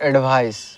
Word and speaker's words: advice: तो देखिए यहाँ पे दो चीज़ें लिखा हुआ है, एडवाइज और एडवाइस। एडवाइज और एडवाइस, ठीक है।